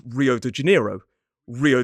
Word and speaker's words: Rio: Rio de Janeiro, that's how I would say it. But a Brazilian would pronounce that first R in the word Rio as H, Rio.